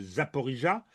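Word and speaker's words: Zaporizhzhia: idée que c'est probablement dans la trouée de Zaporizhia, c'est comme ça qu'on prononce, que des choses importantes, sinon décisives, se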